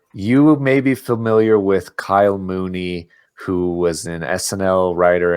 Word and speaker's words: Kyle Mooney: his name it's definitely Kyle Mooney okay um there's a knee at the end so I might have